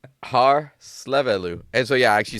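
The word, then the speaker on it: Hárslevelű: Harlevu. H A R S L E V E L U. Hallelu. That's correct. Oh my god. Unbelievable. Harleu.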